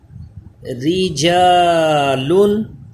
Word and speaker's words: رجالن: Line میں آ جائیے، رجالن، را باریک پڑھا جائے گا کیونکہ اس کے نیچے زیر ہے۔ امرین، را باریک ہوگا کیونکہ